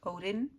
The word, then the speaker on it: Odin: the white eye of Odin there. Odin, as is how I would pronounce his name, not Odin, Odin.